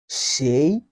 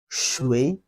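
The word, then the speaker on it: 谁: Then the fourth part, who in Chinese also has two pronunciation methods. Shéi, shuí, and shuí. Shuí, which has almost the same sound with water. The water in Chinese is also pronounced as shuí.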